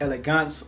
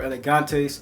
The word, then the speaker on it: Elegantes: the house of Elegance is either pronounced Elegance or elegantes I've heard it both ways from essays in shops